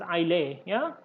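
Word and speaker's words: Islay: so i'll a biscuits has to be is pronounced as i lay yeah i lay i lay so it's a scotland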